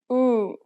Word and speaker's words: 우: 오, 오, 오, 오, And the next vowel is 우, purse your lips as though you are about to whistle or blow up a balloon, or say ooh, as in blue. 우, 우, 우, 우. The lips are more relaxed for the Korean ooh sound than the English ooh.